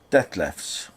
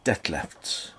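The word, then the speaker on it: Dethleffs: the Deb left trends I can never pronounce those German words d e t h l e w FS death lefts I think it's dead lefts probably um the trend with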